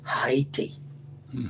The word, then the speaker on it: Haiti: When Jacques Dessalines came to power, he said, you're going to spell it, we're going to pronounce it the way the indigenous people, the Plainate people, Haiti, Haiti, Haiti.